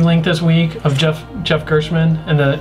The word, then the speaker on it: Gerstmann: way, that GameSpot video you linked this week of Jeff Gerstmann and is it Gerst? Gerstmann. Yeah, I'm saying it right.